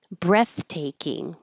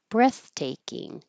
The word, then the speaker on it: breathtaking: of ooh cringe cringe breathtaking breathtaking you won't hear the th F very much but you'll hear a tiny little pause because of that airflow breathtaking it kind of sounds